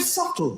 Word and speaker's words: subtle: waste of everybody's time the word subtle would anybody object if it was spelled s u t l e not a single person would there's a b in the middle going shh just ignore me just ignore me there